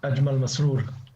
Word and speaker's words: Ajmal Masroor: As Brother Ajmal Masroor, is my pronunciation correct? Ajmal Masroor. Yes, correct, absolutely correct, all the time.